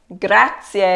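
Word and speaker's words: grazie: gonna sound like gut but here the next letter is an R so we don't have to worry about that so the word is grassy a gratz yeah you probably already know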